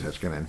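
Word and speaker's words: Heiskanen: Hiskinan. Heskinan. I don't who knows if I'm pronouncing it correctly. I know. I'm No, I Yeah, it is. Heskinan.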